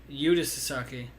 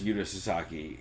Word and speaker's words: Yuta Sasaki: I think it is Yuta Sasaki, because that's how I've always heard it pronounced.